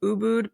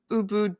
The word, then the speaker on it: Ubud: And I hope I said Ubud correctly. Is that how you say it? Okay. Yeah. Look, people say it in all sorts of ways. I mean, the Balines, I think the word originally is ubad, which actually means medicine.